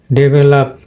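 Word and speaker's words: develop: তো আমরা বলি ডেভেলপ, কিন্তু এটা ভুল উচ্চারণ। তো এটা ডিকশনারিতে এটাই পাবেন, এটা কিন্তু স্টেজ হবে, এটা এখানে স্টেজ হবে, এই ভেলের উপরে স্টেজ পড়বে, তো যার কারণে এটা হবে ডেভেলপ।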